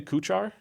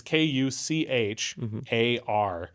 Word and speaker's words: Kuchař: It's Kuchar. If you want to try and pronounce it, the only change you need to make is CH, which is H, like back of the throat, and then R, which is R.